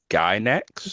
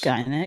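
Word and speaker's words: Gainax: I want to say Uh, it's pronounced Gynex. Guy next.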